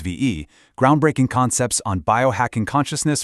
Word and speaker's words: Vie: V's, that's pronounced VE, groundbreaking concepts on biohacking consciousness for leaders of the future.